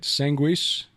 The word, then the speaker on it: Sanguis: Sanguis. That's it. So that is the Latin pronunciation.